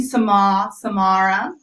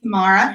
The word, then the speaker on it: Samara: My name, Samara. English at least, Samara.